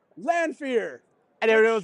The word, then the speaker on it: Lanfear: But I used fan premiere because it rhymes with Lanfear.